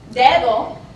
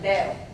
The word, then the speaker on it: dedo: a word, and also this D in between two vowels, like we see here in dedo, is often dropped. So, dedo, finger, would sound more like dedo, dedo.